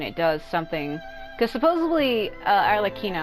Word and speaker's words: Arlecchino: Yeah, because I got caught by those spikes, and it does something Because supposedly Arlecchino, I've been always saying her name as Arlecchino, but I've been saying it wrong. It's Arlecchino, whose real name is Parawar.